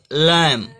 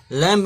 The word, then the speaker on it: lamb: जैसे हमने बोला ना लैम, लैम, लैम्ब नहीं बोलेंगे, लैम।